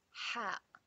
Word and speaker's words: ح: It comes out from the back of our throat.